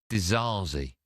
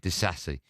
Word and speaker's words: Disasi: How do you pronounce it? Disasi. So Disasi.